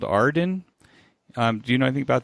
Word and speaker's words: AREDN: But it's my understanding there's a new group or another group called Arden. Do you know anything about these guys? Yes, it's AREDN, pronounced Arden, and they are actually